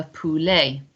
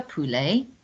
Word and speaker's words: poulet: on the end but we don't pronounce that t so it's la poulee so don't be tempted to change your pronunciation because it doesn't look like how you expect le polly next one and this